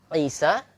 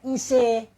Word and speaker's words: Isa: Singkatnya, kata Isa nggak boleh dibaca Ise.